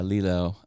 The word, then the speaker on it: Lilo: right is that how you say it yeah Lilo um Lilo Stitch oh my gosh she's so